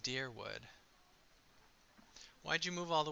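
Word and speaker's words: Dyrwood: quick to remind me of okay so it's pronounced dearwood why'd you move all the way out here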